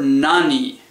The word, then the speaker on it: nani: will use the word nani. It is not you do not use none before the particle o just for pronunciation reasons it is nani.